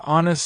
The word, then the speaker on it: honest: an honest person why the word honest starts with the letter H but the H is silent the word actually starts with the o sound which is a vowel sound so you need to